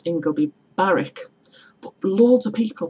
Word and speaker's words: Ingleby Barwick: yeah well the place in Stockton is called ingoby Barrick loads of people pronounce ingleby Barwick another mispronounced place name is actually Middlesbrough itself